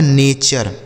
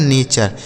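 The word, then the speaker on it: nature: अगर किसी भी शब्द के टी यू आर ई है ना तो इसमें यह जो यू है इसका उच्चारण हमें आ करना है।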